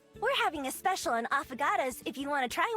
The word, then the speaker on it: affogato: An avocado. Oh god. Affogato. Affogato? I guess that's how it's supposed to be pronounced.